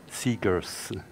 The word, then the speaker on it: Segers: him on the stage you pronounce my last name like the famous American singer Bob Seger so seekers I'm Dean of pxl